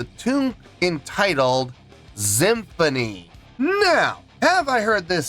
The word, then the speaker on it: Xymphony: Uh, today's song, Symphony, pronounced Just Like Symphony.